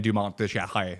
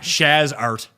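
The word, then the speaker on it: Dumont de Chassart: People want to hear that pronunciation. Adrien Dumont de Charret. Descharret? De Charret. Okay. Not Shaz Art, as I'm sure some stupid American will say.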